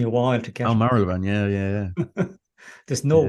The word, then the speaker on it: Marylebone: I had to get my uh, mouth around Marylebone. It just took me a while to oh get. Marylebone, yeah, There's no yeah, Y pronunciation.